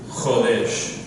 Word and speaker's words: Chodesh: The new moon is called Rosh Chodesh.